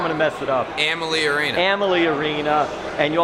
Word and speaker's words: Amalie: Amalie Arena.